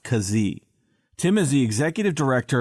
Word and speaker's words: Keesee: it spelled ke e SE e but it's pronounced cos e Tim is the executive director of an organization